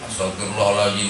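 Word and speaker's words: أستغفر الله العظيم: orang tua astagfirullahal kau Di Hai dek Apa bacanya hostel wirum mohal firullah al azim ya bukan astaghfirullah astaghfirullah alazim Astaghfirullah alazim Astaghfirullah alazim liwaliwalidaya mereka temen Astagfirullah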